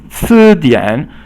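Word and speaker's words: 词典: 词典 dian is like a dictionary, so 词典 means 词 is second tone and dian is third tone.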